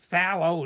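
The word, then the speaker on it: phthalo: just used and I'm going to add some fallow cyanine blue for those of you there are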